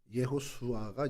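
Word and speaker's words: יהושע: 어이 여호수아는 이름이 뭡니까 여호수아 예수아 예호슈아가 이제 히브리어 발음인데 이게 구약에 축약된 발음이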